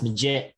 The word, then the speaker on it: Maggette: Is it Maggette or Maggette? Josh, how do you say it? It's Maggette. So wrong twice.